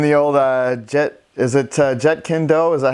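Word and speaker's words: Jeet Kune Do: so he's in the old jet is it jet kendo is that how you say it ji kun go yeah okay so I'll go into our first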